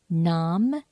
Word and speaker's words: Nam: Nam Myoho Renge Kyo.